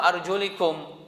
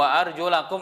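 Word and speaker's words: وَأَرْجُلَكُمْ: Makanya mereka bacanya bukan wa arjulakum, tapi wamsahu birusikum wa arjulikum, bukan arjulakum. Maka bacanya harus benar, karena itu maknanya sudah berbeda. Wamsahu birusikum wa arjulakum itu bacaan Ahlussunnah, sehingga kaki ketika sampai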